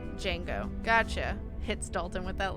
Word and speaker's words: Django: the D is silent in Jin, like Django.